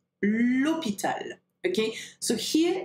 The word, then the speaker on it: hôpital: And then for hôpital, it doesn't have an H aspiré. We call it an H muet, okay? So you've got to say l'hôpital, l'hôpital.